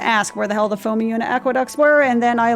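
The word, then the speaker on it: Phomiuna: It's Fomiuna. Because I was going to say Phomonia. It's Fomiuna Aqueducts.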